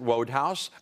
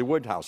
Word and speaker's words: Wodehouse: is before I was familiar with him I pronounced it wodehouse a Critic said and Mr Goldblum maybe he was trying to mispronounce it said wodehouse it's obviously Woodhouse I believe it's Woodhouse yeah since then I've